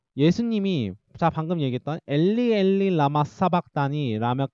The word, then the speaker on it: 엘리 엘리 라마 사박다니: 엘리 엘리 라마 사박다니. 헬라어로는 엘로이 엘로이 라마 사박타니라고 이제 읽는데 우리나라 개역개정에서는 엘리 엘리 라마 사박다니라고 읽어요.